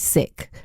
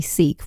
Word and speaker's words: Sikh: k h and so in Punjabi the pronunciation is sick or sick and obviously in the UK we'll still say Seek because you know it's